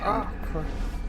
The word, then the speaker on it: Acre: It's pronounced Acre.